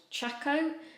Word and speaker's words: Chaco: The most highly recommended brand was a US brand called Chaco, I believe it's pronounced, C-H-A-C-O.